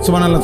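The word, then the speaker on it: سبحان الله: সুবহানাল্লাহ। সুবহানাল্লাহ। কিচ্ছু হয় না। হা উচ্চারণ না হলে তো তাসবি হয় নাই। শেষের গোল হাটা সাকিন করতে হবে এবং প্রত্যেকবারই নিঃশ্বাস ফেলতে হবে।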